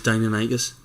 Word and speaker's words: Deinonychus: I think it is Deinonychus, but I've always called it Deinonychus.